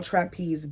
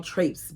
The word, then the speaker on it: traipsed: I watched as they all trapezed back across the street. Is that trapeze? Alexa, how do you pronounce Taripsed?